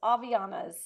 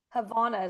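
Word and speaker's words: Havaianas: The H is silent. Aas. Avanas.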